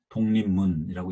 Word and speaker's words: 독립문: 예를 들어서 독립문이라고 써놓고 독립문이라고 읽어요. 소위 자음접변이라는 현상인데 자음이 이렇게